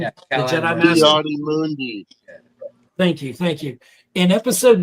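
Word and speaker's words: Ki-Adi-Mundi: Yadi Mundi.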